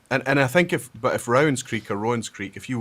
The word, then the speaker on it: Rowan's Creek: says Rowan's Creek, but Rowan County here in Kentucky is Rowan. So it's actually Rowan's Creek is how I would think you would pronounce it.